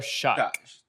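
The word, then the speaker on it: Shough: But this team picked Tyler Show, is that is that how you pronounce his name? Tyler Shock. Tyler Tyler Shock.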